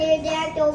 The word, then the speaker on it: pterodactyl: What did the pterodactyl go to the bathroom? The pee is silent.